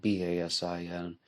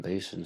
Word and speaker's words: Basin: murder in Basin street it's spelled b-a-s-i-n the young French speaker in me wants to say but uh the West Virginian and me is just gonna say Basin Street and today we are